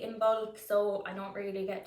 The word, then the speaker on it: Imbolc: out that yeah in modern irish it is pronounced in bulk that's why you're trying to say in bulk